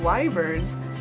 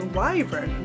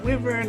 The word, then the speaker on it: wyvern: learned that they were going to be getting wyverns, yes, that is how you pronounce it. I looked it up on 8 different online sources, how to pronounce that word for that mythical creature. It is wyvern, not wyvern, not wavern.